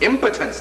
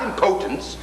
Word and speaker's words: impotence: It's impotence, not impotence.